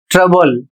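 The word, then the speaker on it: trouble: और इसका उच्चारण होता है ट्रबल।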